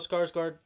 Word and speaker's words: Skarsgård: So Count Orlok, Bill Skarsgård basically had no chance at beating him, and that's why Bill Skarsgård, Bill Skars. No, that is the way to pronounce his name.